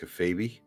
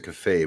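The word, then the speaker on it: kayfabe: And I'll And I'll let you know, by the way, it's pronounced uh it's pronounced cafab.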